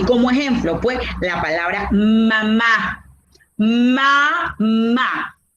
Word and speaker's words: mamá: palabra mamá ma ma donde lleva el acento la mayor fuerza de voz mamá la llamamos porque la profesora me dijo que debo llamar a la palabra para conseguir la mayor fuerza de voz entonces yo la voy a conseguir guau mamá última todo tiene reglas porque la